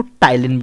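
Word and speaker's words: ptyalin: होता है इसको दूसरा नाम क्या बोलते इसको टाइल इन बोल तक पीड़ितों साइलेंट रहता है टाइल इन थे सलाइवा के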